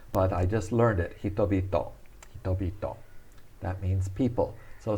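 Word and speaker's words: 人々: We say hitobito. Hitobito. That's pronouncing hito twice, but the second time it turns into a B sound.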